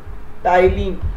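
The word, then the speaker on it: ptyalin: कौन सीक्रेट करता है, इसका दूसरा नाम है टाइलिन, टाइलिन, क्या नाम है, PTY, मैंने बोला था P साइलेंट है, टाइलिन।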